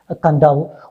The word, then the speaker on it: Kadavu: okay let's see that on the island of kandao pronounced kandahar okay it is written kadawa and still pronounced as kandao one of the larger islands of the fiji